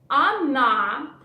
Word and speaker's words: она: Look, or we pronounce like a, она. But the last "a" is stressed.